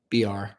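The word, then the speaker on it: Biar: my daughter Lydia Rose BR. My last name is pronounced BR. Like the letter B and the letter R, but it's spelled B I A R.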